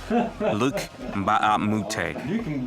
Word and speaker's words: Luc Mbah a Moute: Luc Mbah A Moute.